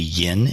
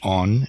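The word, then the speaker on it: 音: it's the in quan, which is also the yin in quan yin in Chinese, or the on in kanon in the Japanese way of pronouncing it.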